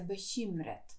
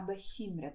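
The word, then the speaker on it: bekymret: ми бешімрет до речі зверніть увагу як воно вимовляється бешімрет тому що там і оця Стоїть оця буква не ші А бешімрят вона так і вимовляється і якщо ви хочете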